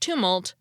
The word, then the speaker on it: tumult: Marshall pointed out that I had mispronounced tumult as tumult a tumult is a